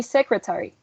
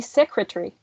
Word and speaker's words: secretary: if we use um if we don't use election and we read every single sound it would be secretary right now if we use election it would be secretary secretary do you see that um